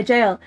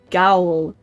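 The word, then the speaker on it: gaol: Jail used to be yeah, jail. That's how it's spelled in this game. It's spelled like the one with the G. And I thought it was pronounced Gowl until somebody said jail.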